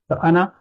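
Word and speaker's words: أنا: will be ana anna so we don't pronounce alif here ana if we look at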